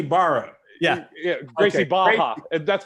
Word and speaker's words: Barra: in Portuguese, the two R's is pronounced with a J or like a ha sound.